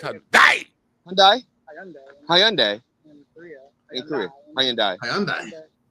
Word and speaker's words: Hyundai: I don't know how much I'm paying, so I don't even know how to pronounce it. It's Hyundai.